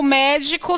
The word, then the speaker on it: médico: medico, mesmo sem o médico saber. Eu tenho a mesma palavra? Não. Médico é uma proparoxítona. Todas as proparoxítonas são acentuadas. Medico, olha, qual é a sílaba tônica? É o de I.